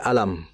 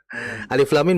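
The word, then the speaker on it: الم: Alif lam mim baca alam. Maka beliau mengatakan kalau alam berarti sama dengan salat alisyirah. Alam nasyrah. Nah, kan seperti itu. Artinya membaca huruf yang berada di ayat pertama di beberapa surat ini tidak bisa kita membaca secara hurufnya, tapi kita harus membaca sesuai dengan ejaannya.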